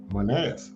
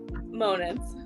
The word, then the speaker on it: Monitz: His co-host is Trish Primo and Chris Jones, Unc, and our guest, special guest, is Lauren Monitz. Did I pronounce that right?